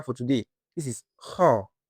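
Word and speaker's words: خاء: The sound of Kha comes from the upper part of the throat, which is closer to the mouth than Ha.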